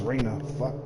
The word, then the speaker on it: Reina: looking for this girl her name is rayna reena pronounced reina